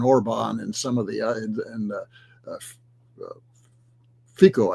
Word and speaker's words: Fico: That's all designed to put the squeeze on Orban and some of the Fico, I think is Fisco. I forget how you pronounce it. Fitzo, right? Yeah.